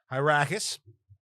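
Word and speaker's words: Hyrcanus: One of them is a guy named, hold on, I think it's Hyracus, but I just want to get the pronunciation right. Yeah, Hyracus.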